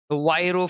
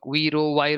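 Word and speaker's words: VRIO: The Viro framework, Viro, however you want to pronounce, I call it as Viro framework.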